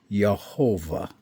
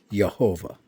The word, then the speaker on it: Yehovah: If the dot was midway in that Vav, it would be the U sound, but it's on the top, so that's the O sound.